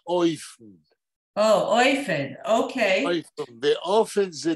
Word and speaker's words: אופן: פה זוהי מילה עברית אופן, שביידיש מבטאים אותה אויפן. אויפן, אוקיי. אויפן, ואופן זה דרך. שיטה, כן. טוב. Oh, I thought you say Ufen.